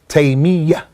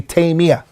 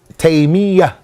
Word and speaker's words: Taymiyyah: pronouncing his name is Taymiyyah, with a shadda on the ya. Many people make it with takhfif and they say Taymiyyah. The correct way is Taymiyyah.